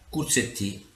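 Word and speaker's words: corzetti: i simpatici krk setti in dialetto genovese corsetti che si pronuncia cossettini pasta tipica della cucina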